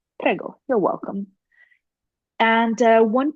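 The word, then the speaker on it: prego: you're welcome which is pgo just like the pasta sauce pgo you're welcome and uh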